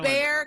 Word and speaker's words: Bexar: at Texas towns yeah think of what letter might just not be pronounced whatsoever okay so in this